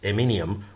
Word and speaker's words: Eminem: could be interpreted as Eminem or enema. It's subject to interpretation. We get some humor out of it. But by having the embarrassment of mispronouncing Eminem's name, because it's Eminem, sorry, like millennium, we learn the correct spellings and stuff.